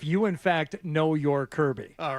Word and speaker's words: Kirby: do with knowing your Kirby know your Kirby kby Kirby I don't know how you found this song but Kirby rhymes with Derby so how are we